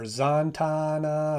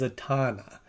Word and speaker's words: Zatanna: I keep wanting to say Zatanna or Zantana or Zananana. And maybe it's pronounced differently in different iterations. I'm not sure. But in this one, it is Zatanna.